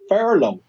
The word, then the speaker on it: furlough: Furlough. Let me spell that for you. Furloughh. Furlough. But it's pronounced fur, like, a fur coat, animal skin, and low, high, low.